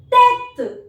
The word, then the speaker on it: tête: And the word is tête. Tête. Even if I do not place this accent, the pronunciation remains same because this accent has no pronunciation.